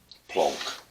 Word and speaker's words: Planck: It's digital plank length. Plonk. Get into trouble for mispronouncing that.